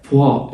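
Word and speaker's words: pois: بوا الاو والاي بيتنطقوا وا تبقى بوا بوا.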